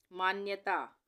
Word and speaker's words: मान्यता: मान्यता, आसान है ये, मान्यता, आधे न का उच्चारण आ रहा है तो इस तरह से आधा न बनेगा, मान्यता।